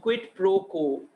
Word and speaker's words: quid pro quo: क्विड प्रो को, QUID PRO, it's pronounced quid pro quo, U is silent, इसका मतलब है something in return।